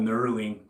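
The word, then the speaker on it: knurling: Did you know this design, that grip, it's called nurling? K N U R L I N G. I believe that's how it's spelled.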